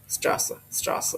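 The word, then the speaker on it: Straße: তো রাস্তা হচ্ছে কি মেরি কুইরি স্ট্রেসি, স্ট্রাসা এটা জার্মানতে বলে স্ট্রাসা। এই বিটা থাকলে হলো ডাবল এস উচ্চারণ হয়।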